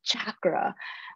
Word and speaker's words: chakra: I also want to take this time to correct everybody who has ever pronounced chakra as chakra. It is chakra, guys, chakra.